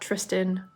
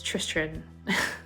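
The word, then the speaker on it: Tristran: very unpronouncable name um it's not Tristan but it's Tristan there's like an extra R in there um so Tristan really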